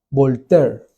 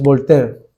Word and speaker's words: Voltaire: francés un filósofo llamado volter ellos le dicen volter en francés se escribe voltaire es volter sa este filósofo era ateo